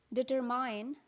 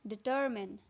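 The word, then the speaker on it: determine: डिटरमिन, most of the people pronounce it डिटरमाइन, but this is incorrect, alright. तो इसको pronounce करते हैं डिटरमिन।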